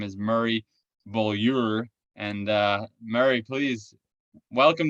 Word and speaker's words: Beaulieu: to bring him here his name is murray bullier and uh murray please welcome to the show